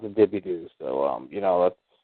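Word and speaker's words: DeBordieu: de bordeaux you know looking french and it's pronounced the dippy doo so um you know that's whatever that's south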